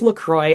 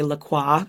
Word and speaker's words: LaCroix: by the way it's Lacroix I looked it up because it rhymes with enjoy that's on their website